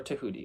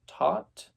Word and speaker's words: Thoth: or Thoth Deck, or Tahuti, or Thoth. Different pronunciations. Academically, I have heard that it is supposed to be pronounced Tot, but I say Thoth because I do what I want.